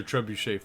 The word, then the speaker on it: trebuchet: Aren't we gonna destroy the trebuchet?